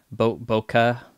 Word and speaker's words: bokeh: Bokeh. Is it man, I remember a few years ago I was learning how to pronounce. It's bokeh. Bokeh.